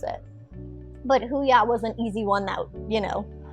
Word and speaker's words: Huya: to pronounce it but huya was an easy one that you know you can it's pronounced the way it's spelled who yeah yeah it's it's a